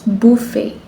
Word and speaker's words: buffet: No, it's buffet.